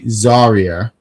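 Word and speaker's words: Zaria: say it right so you guys hear me zarya um he says Ren got dominated she did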